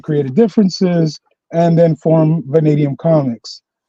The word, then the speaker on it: Vanadium: How do you pronounce that man? It's Venadium Comics.